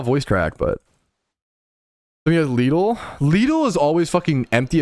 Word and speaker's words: Lidl: Is it Lidl or Little? I say Lidl. Lidl pronunciation. How to say Lidl like a local? This says Lidl. Lidl. Struggling with this word or name? Nope. Lidl. Lidl. It's Lidl. Let's practice together. It's literally Lidl. I don't know why the